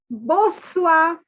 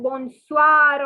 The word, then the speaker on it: bonsoir: different colored pen and please note the n is silent the r is silent so it's not bonsoir or anything it is okay i know i can't